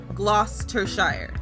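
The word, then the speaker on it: Gloucestershire: part cuz I just know that's how they pronounced it so gloss to Shire that's what that that says I know I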